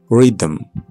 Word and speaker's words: rhythm: The H is silent. Choir, echo, ghost. Rhythm, rhyme.